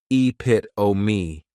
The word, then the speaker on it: epitome: This is a word that when you see it, many times people may mispronounce it because the 3rd syllable has that schwa, and the last syllable is that long epit-o-me.